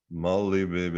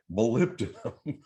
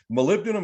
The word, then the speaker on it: molybdenum: you how many people look at they go molly baby what is that okay molybdenum is how it's pronounced molybdenum is a trace mineral which is vitally important